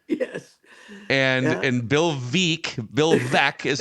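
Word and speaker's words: Bill Veeck: to pronounce correctly yes and and Bill ve Bill ve is how you pronounce it and they just Savaged him and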